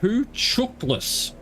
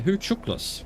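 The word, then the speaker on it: Hucuktlis: gain a visual on who Cactus Lake pronounced who chuckless ah okay who tooklas thank you for bringing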